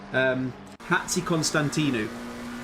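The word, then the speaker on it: Hatzikonstantinou: He's in the Hatsi Konstantinu is how you pronounce it.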